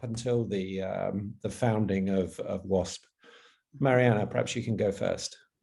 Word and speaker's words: Mariana: Is that how I pronounce it, Mariana?